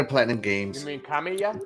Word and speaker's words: Kamiya: You mean Kamiya? Kamiya. Kamiya? Yeah, Kamiya.